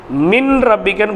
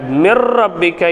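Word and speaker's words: مِن رَبِّكَ: என்பது இத்ஹாம் பிலாகுன்னாவினுடைய எழுத்து இப்போ மின் ரப்பிக்கன்னு படிக்கக்கூடாது நூனே சாக்கின் இருந்தாலும் நூனே சாக்கினை வெளிப்படுத்தக்கூடாது அந்த நூன் இருந்தாலும் கூட மிர் ரப்பிக்க என்று ராவினுடைய உச்சரிப்பு தான் வரும் அப்ப என்ன செஞ்சிருக்கிறோம்னு அர்த்தம் நம்ம நூனே சாக்கின ராவாக மாத்தி இரண்டு ராவையும் ஒன்றாக இணைத்து மிர் ரப்பிக்க என்று படிக்கிறோம் சரிங்களா இப்ப குன்னா எல்லாம்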